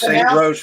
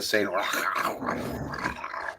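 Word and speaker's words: St. Roche: I'm sure it's St. Ro, but we just we just embellished it a bit. It's actually not pronounced that way. It is pronounced rock like R O C K.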